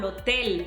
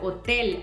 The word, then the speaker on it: hotel: And your H silent. So we say, bienvenido al hotel, amigo. Bienvenido al hotel, amigo. Not bienvenido al hotel, amigo.